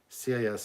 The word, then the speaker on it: cis: Pete's channel, CIS is pronounced cis.